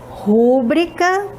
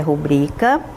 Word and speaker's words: rubrica: gente vai verificar exemplos aqui de barbarismo na pronúncia por exemplo nós temos aqui olha rubrica Tá certo rubrica não não está correto Qual é a pronúncia correta rubrica né veja que o correto é rubrica temos outro aqui ó gratuito Está correto essa